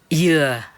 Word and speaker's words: dừa: Because in Vietnam, especially the south, they pronounce coconut like dừa, yeah, dừa in Vietnam, in the southern accent, dừa.